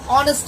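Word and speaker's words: honest: তাহলে এন আর, অ্যান অনেস্ট ম্যান, এখানে এইচ থাকার কারণে হনেস্ট হওয়ার কথা ছিল, বাট আমরা প্রোনাউন্স করতেছি অনেস্ট ম্যান, যার কারণে এখানে এন ব্যবহার করা হয়েছে।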